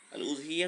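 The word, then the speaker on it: الأضحية: আল উযহিয়া তো বিজম্মিল হামজা, উযহিয়া লেখা হয় হামজা দিয়ে, হামজাটা পেশযুক্ত হামজা।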